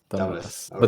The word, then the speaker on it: Damles: How would you like that Dam to pronounce? Damles. That's good. Damles.